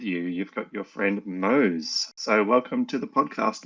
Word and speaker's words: Mose: Yeah, it was Mose. It wasn't Mose or Moss or Mosey.